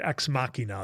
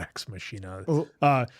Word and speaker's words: Ex Machina: Ex Makina. That's how you pronounce it, not Ex Machina.